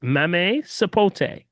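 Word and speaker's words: mamey sapote: When I tell you this, it's mame sapote. Mame sapote. How do you How do you spell that?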